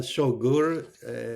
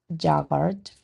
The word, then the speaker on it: yogur: El yogur se echó a perder. Perfecto. Just watch the pronunciation of yogurt. Yogur. Yogur.